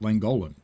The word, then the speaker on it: Llangollen: It's spelt Llangollen, but it's pronounced Llangollen. So I'm still trying to figure out when the double L's become a TH. And sometimes they become a T instead of a TH.